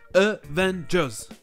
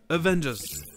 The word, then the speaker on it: Avengers: Dans ce mot, c'est la deuxième syllabe qui est accentuée, donc on va avoir le premier A et le dernier E qui se prononcent E. Avengers. Avengers.